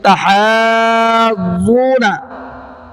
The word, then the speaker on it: تحاضون: تحاضون پڑھتے ہیں، ذا کی تشدید ختم۔ اب ہجے دیکھو، حا ضاد مد کھڑا زبر حاض، یہ اس کا رزلٹ کیا نکلا؟ حاض، یاد رکھیے گا حاض رزلٹ ہے، اور آگے ضاد کو ڈبل پڑھنا ہے، ضاد زبر ضا، پہلا رزلٹ کیا تھا؟